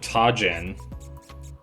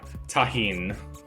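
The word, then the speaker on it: Tajín: But it was mixed with tajin, or tahin, as my girlfriend tells me it's pronounced, which would probably make sense because it's Spanish.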